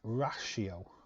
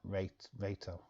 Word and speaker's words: ratio: It's pronounced ratio. Ratio. Not rato.